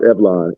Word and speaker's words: Evlon: It's pronounced Evlon, and it's actually no love spelled backwards.